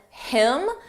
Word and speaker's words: him: Notice how you don't hear the H on him, than him.